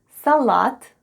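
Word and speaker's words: салат: and all together it's salat salat with the stress on the last syllable try saying it with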